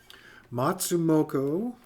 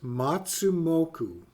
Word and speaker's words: Matsumoku: Matsumoto. Did I pronounce that right? Let's see here. I want to make sure I get that right. Yes, Matsumoku.